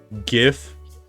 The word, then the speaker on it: GIF: talk about cuz like GIF is pronounced with a hard G like yeah it is